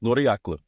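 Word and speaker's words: Ngiraklang: It's pronounced Noriaklu. It's a Palauan name.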